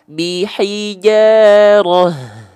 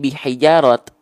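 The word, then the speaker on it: بِحِجَارَةٍ: Contoh bihijaroh, tuh dia jadi hak besar ya, bihijaroh, tuh nggak jadi bihijarot. Tapi kalau misalnya kita lanjut bacanya, maka kita bacanya bukan bihijarohim, enggak, tapi bihijarotim mi.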